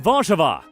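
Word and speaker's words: Warszawa: largest city is warsaw which in polish is pronounced varchava the city has a population of around 1.7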